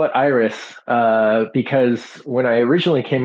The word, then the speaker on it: AIRIS: Is it Iris? Is it Aris? Yeah, I personally I call it Iris. I know other people call it Eris, and that's fine.